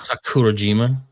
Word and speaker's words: Sakurajima: Sakurajima. Sakurajima.